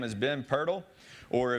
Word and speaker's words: Pirtle: his name has been Pirtle or if you're Australian you apparently pronounce at per tell that's how the guy from Australia was pronouncing it but so he got